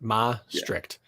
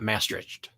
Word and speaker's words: Maastricht: say it yeah Maastricht it's really like Maastricht but Ma strict not maastriched no it's masterage bro which